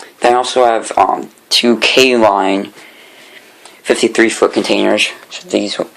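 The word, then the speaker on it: K-Line: out there myself included thought that this that this was pronounced klein but now it's it's k line it's there's there's a bit of a gap in between them but that's that's how you pronounce it at least i think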